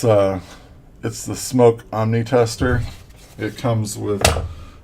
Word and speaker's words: SMOK: I hear some of the British reviewers pronounce it Smock, but I don't think that's the intent. I think it's intended to be Smoke.